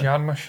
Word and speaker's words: Jarmusch: Is that how you pronounce it? Jarmusch, yes.